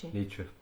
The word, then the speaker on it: Nietzsche: Yeah, Nietzsche.